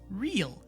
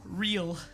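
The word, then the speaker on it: Ryl: It's real instead of rule. What? So, note from God. Sit right on through text. What? Is it real or rill? Real.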